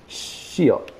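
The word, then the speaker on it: 시옷: I have been miseducated in how to pronounce shiot, the letter shiot, the curvy one, and it's apparently touch your teeth, your tongue to the roof of your mouth, not the bottom of your bottom teeth.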